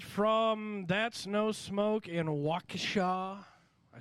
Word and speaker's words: Waukesha: that's no smoke in Waka I said it right okay around here we call it wacky Shaw but wacka wacka the